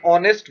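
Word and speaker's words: honest: यहाँ पे है एन ऑनेस्ट बॉय, यानी एक ईमानदार लड़का। अब ऑनेस्ट शब्द एच से शुरू होता है, पर उसमें एच साइलेंट होता है और आवाज आती है ओ की, ऑनेस्ट, तो इसीलिए एन यूज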